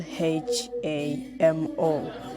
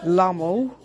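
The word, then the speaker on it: Lhamo: people can pronounce like lamo Nemo but it's not lame or no one pronounces like that but it is pronounced as hamo L plus h combination okay so the next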